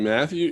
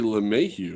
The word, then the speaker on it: LeMahieu: Did you say DJ Matthew? You mean DJ LeMahieu, right?